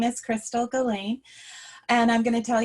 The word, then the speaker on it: Gellein: And this is Chrystal Gellein. Is that how you pronounce it, Chrystal? And you have to unmute yourself. Yeah, Gellein, yeah. Gellein, Very okay. close. It's Norwegian.